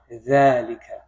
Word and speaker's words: ذلك: ذلك. Exactly. Just like هذا, it doesn't have the ذلك doesn't have an alif after it. It's just assumed. Okay, that's part of the pronunciation.